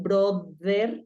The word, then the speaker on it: brother: No es usual decir brother, es mejor decir brother, brother. Acuérdate que la TH tiene como un cambio, entonces no es brother, no, sino es brother, brother.